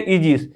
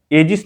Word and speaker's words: aegis: तो यहां पर क्या बोलेंगे, इजिस, एजिस नहीं बोलेंगे, क्या बोलेंगे, इजिस बोलेंगे।